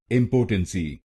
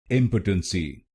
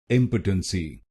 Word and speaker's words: impotency: this syllable po so you should not pronounce this syllable po you should pronounce it pa pa the third syllable